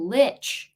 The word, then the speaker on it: Lich: good we'll see though VA lick rhymes with Stitch oh Lich Lich thanks VA that